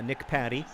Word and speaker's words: Patty: who helpfully says that his last name is pronounced like a chicken patty uh Nick Patty thank you Nick um